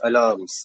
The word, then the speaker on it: alarms: It's not alarms, it's alarms. So basically, you will not put intensification of pronunciation on the term R, you will just ignore it. So it's alarms.